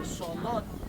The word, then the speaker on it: cenote: 900 years ago and the Mayans call it sonote.